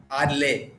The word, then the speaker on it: ARL: as ARL cashew or arle cashew ARL ARL so just like par AR wonderful what a nice